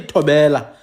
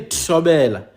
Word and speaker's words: Tshobela: You don't say Tobela. No, you say Tshobela.